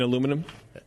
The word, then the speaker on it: aluminium: I've got aluminium, so I don't know. Okay. You mean aluminum? Aluminium? You mean aluminum? Do you also work in a laboratory? It's spelled aluminium.